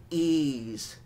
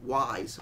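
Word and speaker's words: Ys: like The Wanderers of ease even though it's spelled y s why is it not wise why is the pronounce e I don't understand that but anyway this uh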